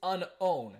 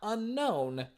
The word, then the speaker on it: Unown: yes it is apparently according to the 3DS talking Pokedex it is Unown not unknown Unown and just for